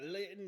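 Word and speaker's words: Litten: We got Linton, whose name rhymes with kitten.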